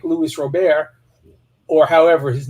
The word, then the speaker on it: Robert: know about like louis robert or however his name is pronounced it's yogurt with an r it's robert okay louise r and